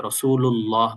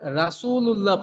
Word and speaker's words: রাসূলুল্লাহ: মুহাম্মদের এখানে হলো হাটা ভালো করে উচ্চারণ করতে হবে। আর লাস্টে হল রাসুলুল্লাহ এই জায়গায় আল্লাহ শব্দের এখানে ল পড়তে হবে। রাসূলুল্লাহ পড়তে হবে।